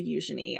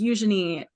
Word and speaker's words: Eugenie: joke on my page because Eugenie is a very British way of pronouncing it in the French you might say Eugenie um the general British population pronounces it as Eugenie sometimes or Eugenie um so I'll always